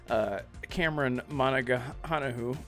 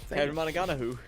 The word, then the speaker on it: Cameron Monaghan: he could really shine, sort of like how Cameron Monaghan has with. That was exactly how you say his name. Good job. I finally got it. Thank you. Cameron Monaghan.